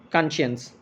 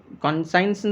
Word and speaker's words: conscience: Article 25 ensures that all persons have the freedom of conscience. Conscience அப்படின்னாக்கா moral sense அப்படின்னு சொல்கிறோம் இல்லையா. Conscience means science சில பேர் someone pronounce it, but it's conscience.